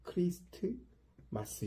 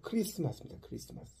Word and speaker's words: 크리스마스: 하나 빠졌죠 그리고 이제 t는 여기서 이제 묵음으로 됩니다 그래서 크리스트 마스 이렇게 읽으면 안 되고요 크리스마스 가 아니에요이 크리스라는 것은